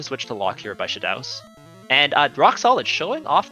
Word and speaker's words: Shadaos: It's Shadaus, not Shadows.